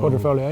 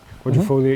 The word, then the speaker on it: Quadrifoglio: Quadrifoglio, yeah. Quadrifoglio. You don't pronounce the G.